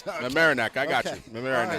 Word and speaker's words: Mamaroneck: That team from New York, I still can't pronounce. Mamaroneck, I got you. Mamaroneck.